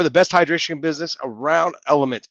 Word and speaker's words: LMNT: best hydration business around element lmnt is how you spell it lmnt but it is element so check it out